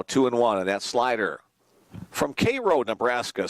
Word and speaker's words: Cairo: Now 2-1, and that slider from Cairo, Nebraska. Spelled like Cairo, but I'm almost positive they pronounce it Cairo there.